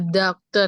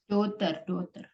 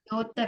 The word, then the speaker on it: daughter: The doctor ya, Miss. The daughter. The anak perempuan kami. Our doctor. Daughter bacanya. Daughter.